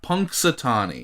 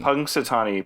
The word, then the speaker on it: Punxsutawney: really what is it yeah how do you pronounce the name of this now punxsutawney punxsutawney pennsylvania so that's that that's uh you know